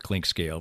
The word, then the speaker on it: Clinkscale: she made for me, my name is spelled Clinkscale, very simply, clink and then scale, like you step on to weigh yourself.